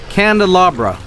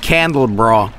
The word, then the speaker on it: candelabra: How do you pronounce this again? Candelabra. Candelabra. That's how you say this, right? It's not as I used to say it, aka candle bra.